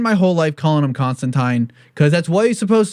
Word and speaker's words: Constantine: I spent my whole life calling him Constantine, because that's what he's supposed to be. It's because his title rhymes with fine, that's his name.